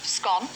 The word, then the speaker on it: scone: Rob says a scone you eat is the same pronunciation as a road comb, but with an S in front.